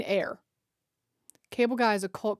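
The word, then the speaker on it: Eyre: And then we got Jane Jane ear. And then we have that evening sun. Oh, pronounced like air. Oh, Jane air.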